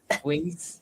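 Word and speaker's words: Quince: How do you pronounce it? Kins. We say quint. Quinc. Okay. It's a word 15 in Spanish.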